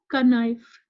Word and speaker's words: knife: This is not knife, k. We will not say the sound of k.